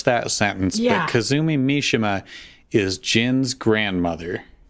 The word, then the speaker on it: Mishima: It's actually Mishima. All right. Is everybody ready? Are we good? Only if Yes. you pronounce things right.